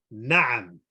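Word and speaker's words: نَعَم: So if you say Na'am, Na'am, okay, so a bit of exaggeration. The ain, na'am, means yes.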